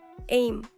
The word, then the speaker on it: EMM: Title of the audiobook is EMM, pronounced in short as AIM, Earth, Moon, Mars.